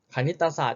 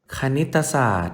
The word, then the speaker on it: คณิตศาสตร์: คณิตศาสตร์ ใช่ ไหม ลูก คณิตศาสตร์ อ่ะ อ้าว แต่ นอก จาก เรา จะ ไม่ ออก เสียง รอ เรือ ที่ อยู่ ใต้ ไหม ธนาคาร แล้ว เรา ไม่ ออก เสียง ตัว ไหน ด้วย ลูก ตอ เต่า ด้วย อ่า อ้าว นี่ เอง